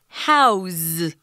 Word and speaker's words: house: we're actually using a house as a verb and if we use it as a verb guys it's pronounced house with a Z sound so be careful with